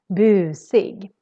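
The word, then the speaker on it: busig: the word bu sig so here the u is really long because we're just one consonant coming after it it looks very similar to the other word but you need to do the you extra long boo sig and sig actually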